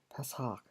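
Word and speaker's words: פסח: 제가 방금 읽었던 패삭, 이게 히브리어 발음이죠.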